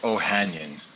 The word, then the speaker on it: Ohanyan: correct pronunciation of your last name so i'll mispronounce it sure it's ohanian ohanian that's easy so peter has many credentials